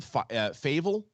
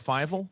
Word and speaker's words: Fievel: By the way, you're starting to be one of my favorite people to pronounce names next to me and JTE. Yesterday on FCL, what did you call him? Favel instead of Fievel, the mouse?